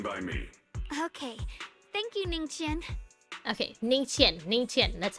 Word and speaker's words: Ningqian: Thank you, Ningqian.